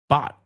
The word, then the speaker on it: bot: We don't say bot, we say bot. Es cortito, no es Te lo estoy diciendo en largo para que lo oigas, pero realmente es cortito.